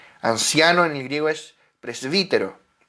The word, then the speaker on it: presbítero: Anciano en el griego es presbítero. Pres- presfútero, pero se pronuncia presbítero.